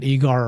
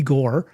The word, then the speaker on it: Igor: I think it was calling it eigar or something that he goes no call me igore and he told the